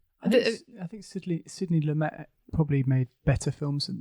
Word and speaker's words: Lumet: I wanted to touch on Sidney Lumet. Do you pronounce the T? I do, but We'll add the T there.